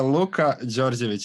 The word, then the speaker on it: Luka Djordjevic: into the interview and then your name is pronounced luca okay it will be a bit hard giorgiovic george georgeovich yeah luca georgiovic it's a bit hard but uh so it's